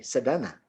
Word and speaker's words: Sedana: pronounce my name correctly perfectly. Sadana.